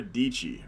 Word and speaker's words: Dietschy: Sarah Dietschy. Rhymes with Peachy.